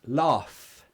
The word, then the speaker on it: laugh: you pronounce love and laugh again there's two differences love that's a voiced sound love love vibration love vibration laugh there's no vibration nah it's just air it's no vibration love laughs so love